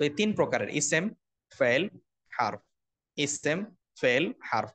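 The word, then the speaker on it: اسم: এটাকে আমরা আরো সংক্ষেপে বলতে পারি ইসেম, ফেল, হারফ। এভাবে বাংলাদেশের পড়ার প্রচলিত রীতি আছে। কিন্তু আরবি উচ্চারণের প্রপার উচ্চারণ হচ্ছে ইসমুন বা ইসম।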